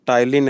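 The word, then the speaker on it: ptyalin: चलिए टाइलिन की स्पेलिंग भी देख लीजिएगा, इसमें पी साइलेंट रखा हुआ है।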